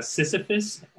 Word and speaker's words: Sysifus: pretty good yeah it's it's technically pronounced sisyphus named after the greek myth i don't know if